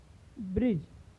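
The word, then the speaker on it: bridge: ब्रिज, तो यहाँ पे भी डी का उच्चारण नहीं हुआ है।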